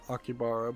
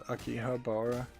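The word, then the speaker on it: 秋葉原: to akihabara uh yeah most people pronounce it akibara but actually it's akihabara but um and i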